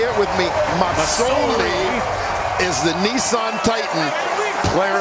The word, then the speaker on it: Masoli: S, not a Z. And I think as the East Division Player of the Year, most outstanding player, I think he's earned the right to have his name pronounced correctly.